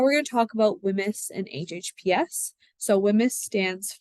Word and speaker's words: WHMIS: already mentioned what it stands for and you pronounce it whims wi m i um and basically it is